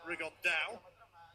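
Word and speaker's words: Rigondeaux: And Tete's talked about fighting Rigondo, or as he's correctly pronounced with the Spanish accent, Rigondao.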